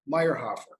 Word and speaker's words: Meierhofer: i'm in san diego great and if i'm pronouncing your name correctly it's meyerhoffer correct yeah hey almost like my dad well